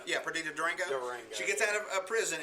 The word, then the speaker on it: Perdita Durango: The movie was made in 1997, and Perdita Durango, is that how you say her name? Yeah, Perdita Durango.